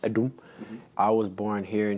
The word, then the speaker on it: Adom: It's pronounced Adom, it's pronounced Adom.